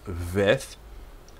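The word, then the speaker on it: ב: letter Beth right so without the dot in the middle it's veth um and with a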